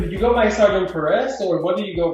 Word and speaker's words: Perez: So it's Perez, but a lot of people would just say Perez, so Perez.